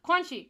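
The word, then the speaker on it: Kuanchi: I think it's Quanzi. I want to say it's Quanzi or Quanchi. Quanchi? Quanchi. Quanchi is how you say her name.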